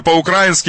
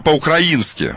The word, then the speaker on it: по-украински: есть очень много всяких например вы говорите я говорю по-украински и по-русски а по-русски будет Я говорю по-украински у нас ударение у русских людей другое ударение по-украински не А по-украински это по-украински ну и так далее